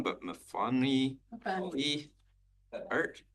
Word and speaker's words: Myfanwy: And forgive me if I get the name wrong, but Myfanwy Cawley Art? Myfanwy, okay. Hello, come before us. The floor is yours. Thank you for correcting my mispronunciation. Hello, my name is Myfanwy and I'm the president of the Qathet Art Council.